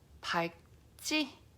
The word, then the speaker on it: 밝지: Okay, this word is pronounced as 밝지. 밝지. So this is where the word 밝, it's not quite pak, it's not quite pal. It's like your tongue wants to do the L sound, but it gets shut with the g sound. So it's 밝, 밝, and then 밝지.